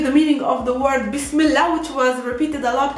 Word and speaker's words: Bismillah: one whole expression bismillah pronounced by arabs is bismillah that's the correct pronunciation bismillah if you don't want to make the edge towards the ending very like strong you can just say bismillah which sounds a lot like that one repeated